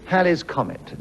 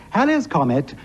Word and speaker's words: Halley's Comet: to reappear in 1986, the correct pronunciation is Halley's Comet and not Halley's Comet, but that is the subject on the card, so I'm afraid I have to mispronounce the word, and I do apologize to the audience. I happen to be a member of the Halley's Comet Society, and therefore I'm